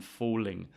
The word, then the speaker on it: falling: I'm falling. When I say falling, however, it gets pronounced more. You can hear it more.